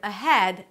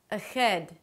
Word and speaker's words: ahead: the H, which is instead of a 'H' sound, more of a 'g' sound. So the word 'ahead' may sound like 'agead'.